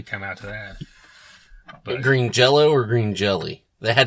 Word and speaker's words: Green Jelly: They changed it to Green Jelly, and then they said, but it's pronounced Green Jello. So even though it's spelled Green Jelly, it's still pronounced Jello.